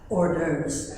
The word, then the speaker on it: hors d'oeuvres: Those are French words, and it is pronounced as hors d'oeuvres.